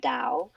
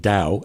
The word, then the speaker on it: Tao: bring the principles of Tao into your everyday life, everyday living. I guess I have to start saying Tao instead of Tao. Yes, it is pronounced like a D.